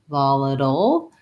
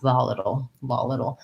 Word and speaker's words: volatile: So I have the a schwa, volatile, and then more like a DLE word would be pronounced, where I have my syllabic L and my T turns more into a flap, volatile.